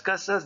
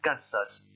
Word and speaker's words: casa: Deuxième question, ¿cómo son las casas de la izquierda? Attention à la prononciation du mot casa, hein, on ne zozote pas en espagnol.